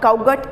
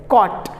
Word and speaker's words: caught: इट इज़ नॉट काउट, इट इज़ नॉट काउगट, इट इज़ कॉट।